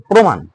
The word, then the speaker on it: প্রমাণ: প্রমাণ, প্রমাণের ক্ষেত্রেও সেম। দেখো পয়ের সাথে রেফ রয়েছে, তাহলে প্রো ও হবে, প্রমাণ, প্রমাণ, প্রমাণ।